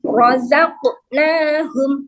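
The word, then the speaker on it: رَزَقْنَاهُمْ: Terus rozaqnahum rozaq. Nah, ini ada qafnya nih, ada qalqalah, maka dipulkan. Tapi cara memulkannya murni huruf aslinya kok.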